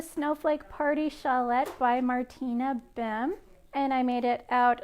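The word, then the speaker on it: Behm: and it is by martina bem that's spelled b e h if that name sounds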